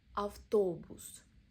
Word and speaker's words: автобус: Автобус. Middle O is stressed, pronounced as a O.